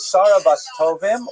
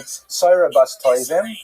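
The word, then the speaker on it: Sarah bas Tovim: Her name is Sarabastovim or probably the was pronounced in her time sabbastoim right from the Yiddish pronunciation.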